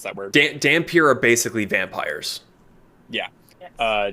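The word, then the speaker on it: dhampir: ancestry for instance uh daffamir tiefling ASMR that's dampier by the way sorry damn I can't pronounce that word damn pure are basically vampires yeah uh changeling they're all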